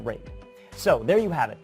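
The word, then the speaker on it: RAID: those letters and yes I know it's pronounced rate so there you have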